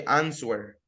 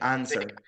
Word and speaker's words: answer: sweet swatow swelling okay the only exception is answer we don't say answer we say answer that's the exception but the rest suits